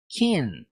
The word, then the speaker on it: king: Toda vez que você vê qualquer palavra no inglês que termine com ing, você nunca pronuncia a letra G. Portanto, I said king.